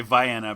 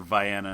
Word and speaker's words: Vienna: I keep wanting to say Vienna because here in Ohio we actually have a town called Vienna and it's pronounced that way.